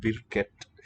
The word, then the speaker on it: hvilket: Here it's vilket. Vilket in the spelling.